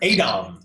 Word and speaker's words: AADOM: AADOM. AADOM is how AADOM. I think it's you have to pronounce the two A's.